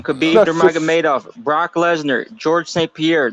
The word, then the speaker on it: Nurmagomedov: Khabib Nurmagomedov.